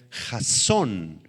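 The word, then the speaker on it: חזון: Esta esta palabrita visión proviene del hebreo jasón con z y acento en la o jasón empieza con h la palabra h a Z o n Jason y se refiere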